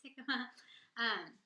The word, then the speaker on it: jicama: someone in the store, I didn't know how to say it at first either. She was like, what is this jicama? I was like, it's jicama. So jicama and salsa, so